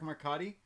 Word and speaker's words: Marcotte: see where is it Erik Makati sound good perfect welcome everybody thank you